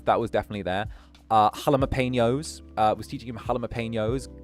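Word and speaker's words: jalapeños: Uh, halapenños.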